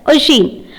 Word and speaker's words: Oisin: I will pronounce that. That is, it's Oisin. Oisin and St.